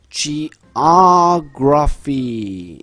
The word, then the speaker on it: geography: geography geography 이렇게 됩니다. 그럼 지금 화면상에서 보시면 geography 이렇게 아에 있다라는 건 geo 할 때 이 o에 강세가 있다는 얘기죠.